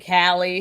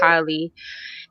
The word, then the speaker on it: Kylie: kylie the poet um sorry i'm out here saying callie it's okay it's okay um this is actually the first time i'm saying it how i pronounce it and it's just you